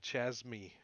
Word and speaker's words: chasme: A chasme. How do you say it? Casme. Yeah, that's right, Chasme. Chasme?